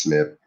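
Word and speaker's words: SNP: movement single nucleotide polymorphisms it's pronounced snip literally it's just a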